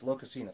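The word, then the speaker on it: Lokasenna: Oh, I have no idea how to pronounce that. But there's a story in the poetic Eddas. Locusina? Yes, Locusina, thank you.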